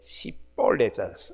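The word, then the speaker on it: שיבולת: 평소에 훈련이 안 되니까 이게 시볼렛, 쌍시옷 발음인데 이전의 성경은 이게 시볼렛이라고 이렇게 쌍시옷으로 했는데 이번 개역 개정판은 발음이 너무 좀 이상하다 듣기에 그래서 슈볼렛이라고 하는데 사실은 이전의 개역 개정 이전의 성경이 정확한 번역입니다. 시볼렛이라고 이렇게 발음을 해야 돼요.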